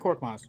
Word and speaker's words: Korkmaz: Oh, you said it right, Frank Korkmaz.